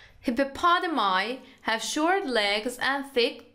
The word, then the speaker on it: hippopotami: جمعش رو به تلفظ جمعش دقت کنید. هیپوپادامای هاف شورت لگز اند تیک دارک گری اسکین.